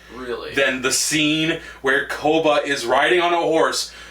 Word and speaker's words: Koba: okay what the hell but the thing about Copa is he makes a great Koba but with a B they've been they they